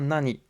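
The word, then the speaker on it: 何: Alors attention à Nani parce qu'il va se prononcer Nan devant les T, les D et les N. Donc la question, Sore wa nan desu ka? Le Nani se prononcera bien Nan.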